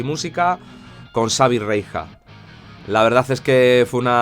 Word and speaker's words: Reija: es Reija o es Reisa, también se pronunciaría, o Reija. Reija, es un apellido, de hecho es un nombre finlandés, pero es un apellido muy común en Galicia, y es Reija, y Reixa, en Galicia también lo traducen, ¿no?